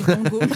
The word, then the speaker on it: Vango: Ça se prononce Van Gogoo par contre, je crois. Non, c'est Vango.